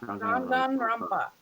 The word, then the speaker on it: Danganronpa: Danganronpa. I was saying it in my head. There's a lot more N's than you think there would be.